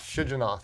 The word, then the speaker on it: Shigionoth: Shigionoth, yes.